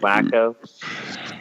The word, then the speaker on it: Waco: No, Chip and Joanna live in Waco, Texas. Oh, I thought their shit's in Gainesville. Pronounced Wacko.